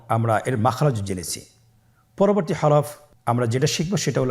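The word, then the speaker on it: ح: পরবর্তী হরফ আমরা যেটা শিখবো সেটা হল হা। হা এর মধ্যে কোন নুক্তা আমরা দেখতে পাচ্ছি না। হা হরফটি কিভাবে উচ্চারিত হবে? হা হরফটি উচ্চারিত হবে কন্ঠনালীর মধ্যখান হতে।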